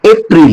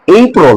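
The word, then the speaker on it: April: পরে কি এপ্রিল আচ্ছা আমরা যারা আছি তারা উচ্চারণ করে কি এপ্রিল না কিন্তু ব্রিটিশরা দেখ কি উচ্চারণ করে ব্রিটিশরা উচ্চারণ করে এই প্রল কি এই প্রল দেখছো আমাদের কত ভুল আমরা যারা আস উচ্চারণ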